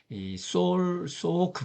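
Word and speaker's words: Salk: 백신 개발에 성공한 소오크 박사, L자는 발음을 안 하고 있네요.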